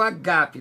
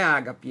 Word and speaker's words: agape: amor de amigo, e temos o agape, não é ágape, é agape, o acento está no segundo alfa, né?